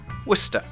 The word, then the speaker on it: Worcester: First Worc, then stir. And the end of Worc and the beginning of stir kind of blend together. Worcester. That's why the spelling is confusing. The CES looks like it should be said as a syllable. Worcester. But actually it's just the end of one syllable and the start of another, which is the same sound.